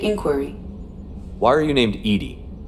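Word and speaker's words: EDI: why are you named Edy Ed is the phonetic pronunciation of Eed that is an acronym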